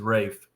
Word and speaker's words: Ralph: Obviously, I picked Rafe Fiennes. Am I saying it wrong? Because it's not Ralph. I've always heard it as Rafe. So I'm going to continue to say that even if I'm wrong.